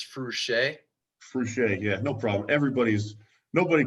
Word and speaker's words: Fruchey: I always thought it was FRUCHEY, but it's FRUCHEY. FRUCHEY, yeah, no problem. Nobody pronounces it right the first time, and it's okay.